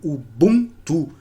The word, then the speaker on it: Ubuntu: O buntu é pronunciado como o buntu. Existe uma tonificação ali no bunto.